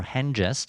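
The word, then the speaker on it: Hengist: they have two sons hangist or hen jest as tolkien would have said and horsa now are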